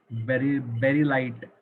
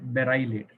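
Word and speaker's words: beryllate: Sodium बेरिलाइट, बेराइलेट, नॉट बेरिलाइट, बेराइलेट, Na2BeO2 plus H2.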